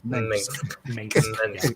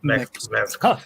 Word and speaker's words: Mengsk: It's not easy to friggin' say. It's easy to mispronounce it because it's Mengsk. Mengsk.